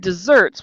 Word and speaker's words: deserts: way to remember that it sounds like cake so I'm saying it desserts which normally would have two s's but it's spelled like the Sahara Desert so it's just desserts it's it's a um